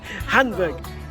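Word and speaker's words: Hainburg: So, according to Nadine, this is Hamburg. What? Hamburg. Hamburg. Even though it's spelled H-A-I-N, which was very confusing because yesterday somebody on the bus thought we were going to Hamburg. Because it sounds very similar, Hamburg.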